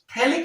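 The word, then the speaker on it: phthalic: थैलिक acid. और थैलिक acid को इस तरह से लिख दो बेटा, थैलिक एसिड। हाँ, यहां पास जो थैलिक एसिड होते हैं उसमें पीएच जो कि साइलेंट पर होता है।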